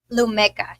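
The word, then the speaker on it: Lumecca: I got to ask you about the areas you do is I think it's pronounced Lumeka. Lumeka, yes.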